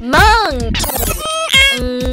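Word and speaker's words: 梦: Say mm, then ah, then mm. Now string all of them together. No, they meng. Meng.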